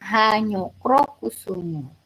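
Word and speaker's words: Hanyakrakusuma: Ini tulisannya kayak gini tapi bacanya Hanyokro Kusumo.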